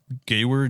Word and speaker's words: Gewehr: It's Gewehr, Gewehr.